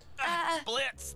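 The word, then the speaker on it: Blitzø: Are you okay, Mr. Blitz, the O is silent.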